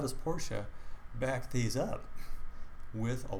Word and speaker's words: Porsche: random let's say Porsche which is the correct pronunciation Porsche with the e on the end go to their website